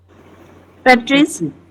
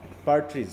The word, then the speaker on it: partridge: যেমন এইটা আমরা কি উচ্চারণ করবো বলো তো? PARTRIDGE, প্যাট্রিস। হ্যাঁ, পার্ট্রিজ, তাই তো?